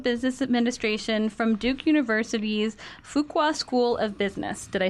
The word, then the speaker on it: Fuqua: his master's of business administration from Duke University's Fuqua School of Business did I say it right